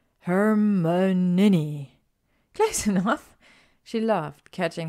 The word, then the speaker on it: Hermione: and change a subject how to correctly pronounce her name her my young knee she said slowly and clearly hermon ninny close enough she laughed